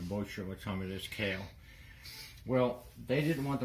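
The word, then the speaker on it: Caille: this company called Cale that's CA il le I could announce with Kaylee but I was pronouncing it wrong I think we got did the moisture but tell me this kale well they didn't want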